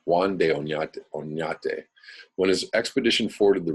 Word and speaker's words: Juan de Oñate: accompanied the conquistador Juan de Oñate, let me pronounce that correctly, Juan de Oñate, when his expedition forded the river.